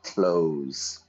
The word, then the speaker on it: clothes: Notice my pronunciation there, clothes. I open the door, I shut the door. I open the door, I close the door. Every morning I put on my clothes. It's exactly the same pronunciation.